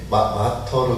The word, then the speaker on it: martyr: 그런데 영어의 단어 MARTYR 발음이 마터로 되어 있더라고요. 마터. 그렇죠? 제가 인터넷으로 이렇게 찾아서 발음을 들어보니까 마러 이렇게 지나가더라고요. 그래서 마런가? 발음 쪽은 마터인데 아무튼 M-A-R-T-I-Y 이 단어는 무슨 뜻이냐면 순교자라는 뜻이에요.